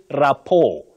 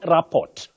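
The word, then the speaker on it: rapport: 664 049 you say rapo not raport that t is silent you say rapo then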